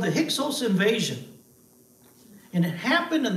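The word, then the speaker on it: Hyksos: they call it the pixels you can I'll spell it for you h y k s o s it's called The hixels Invasion and it happened in the latter part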